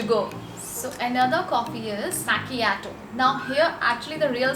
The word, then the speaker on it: macchiato: struggle comes why because a lot of people are not even able to pronounce it properly some pronunciation some pronounce it as machiato but the correct pronunciation of this particular coffee is machiato now what does it